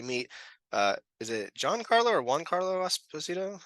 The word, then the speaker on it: Giancarlo: Is it Giancarlo or Juan Carlo Esposito? How do you pronounce his name? Giancarlo.